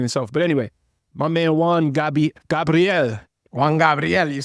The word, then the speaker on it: Juan Gabriel: that's the Spanish enunciation. Yeah. So Juan Gabriel. You can also say Juan Gabriel.